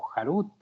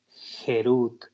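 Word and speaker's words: חֵרוּת: Harut, que significa tallado, sobre las piedras, no pronuncien tallado o jarut, sino más bien gerut, que significa libertad, porque no hay ningún hombre libre, sino el que estudia la Torá.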